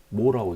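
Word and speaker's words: mho: 옴을 뒤집었으니까 읽는 것도 반대로 뒤집어서 읽는 거예요. M, H, O 해서 모라고 있습니다. 얘는 옴이라고 읽고요.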